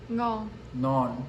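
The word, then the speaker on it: ngon: It's non. Did I say it right? No. Non. Yep. Yes, it's non.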